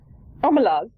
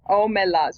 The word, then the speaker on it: Omelas: Omelas. I think I wrote how it was meant to be pronounced. Hang on, how did I write it? Omelas, you're right.